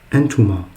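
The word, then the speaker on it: أنتما: deux, donc deux filles, on dit entuma. En, tu, ma. Et vous voyez que c'est comment au masculin. Entuma. C'est de la même façon.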